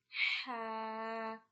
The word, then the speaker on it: ح: This is called Ha, Ha. This is pronounced from the middle of your throat.